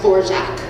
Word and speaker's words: Dvorak: she adopted it she wanted it to be pronounced for jack and i think she alleged it was a